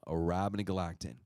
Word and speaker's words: Arabinogalactin: then you have this long-sounding name, and it's pronounced Durabonagalactin, okay? That is a tongue twister, right? But just think abracadabra, but no, Arabinogalactin.